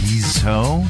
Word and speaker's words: Guizhou: I completely got it wrong. Guizhou. Guizhou? That doesn't, if you try and do it phonetically, that doesn't look... Guizhou. Okay, thank you. She's irritated. So it's in Guizhou.